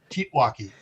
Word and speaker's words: TEOTWAWKI: That's it, because the second T or A is silent, and so the O is silent. And that's the guys that came up with it. We all pronounced it Teotwawki.